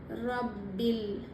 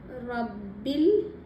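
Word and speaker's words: رَبِّ الْ: ரப்பில் ரப்பில் அலிப் விட்டறணும்.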